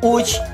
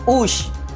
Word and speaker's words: uchi: Vale lembrar que a pronúncia deste termo Uchi usa-se a fonética Uchi e não Ushi, pois a fonética Ushi em japonês dá-se a entender que se refere à vaca.